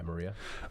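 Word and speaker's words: Mriya: Yeah, Maria.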